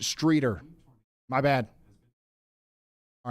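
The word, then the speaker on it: Streator: We do have a viewer out here saying it's pronounced Streeter.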